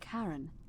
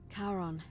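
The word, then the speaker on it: Charon: it's just as you described it only your pronunciation is a little she didn't give us a coin the name you heard wasn't Karen it was c-h-a-r-o Baron as in Caron the ferryman of the Dead karon who in exchange for the right coin helps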